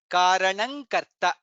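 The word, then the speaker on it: करणम्: Nga comes nga and ka. Karanang karanam. Again, karanam karta, karanang karta. That's how it is pronounced.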